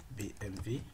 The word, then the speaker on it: BMW: Donc par exemple à ce niveau, si je mets BMW, ok, BMW, donc tout simplement je prononce V parce qu'on dit W c'est V en allemand.